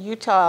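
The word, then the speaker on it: Eutaw: I was born in Utah Alabama and most people have never heard of it it's spelled with an e e u t a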